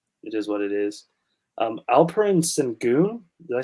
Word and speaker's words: Alperen: Alperen Sengun, did I say his name right? Or Alfred? Yeah, Alperen.